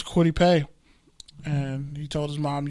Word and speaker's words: Kwity Paye: Kwity Paye.